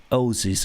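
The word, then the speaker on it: Aussies: we are australian australians we are ozi's right pronounced like ozzy osbourne law would help you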